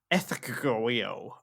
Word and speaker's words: Ecgtheow: Right, before I say it, it's spelled ECGTHEOW. Ethegeo.